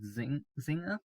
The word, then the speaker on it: Zynga: I believe it's called Zynga. It's spelled Zynga, so I'm going to go with Zynga.